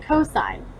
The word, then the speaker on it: cos: still pronounced like sine, and we abbreviate the word cosine like C-O-S, but it's still also pronounced like cosine.